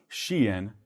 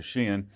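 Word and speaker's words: Shein: are the largest ones shien kind of spelled like shine some of viewers may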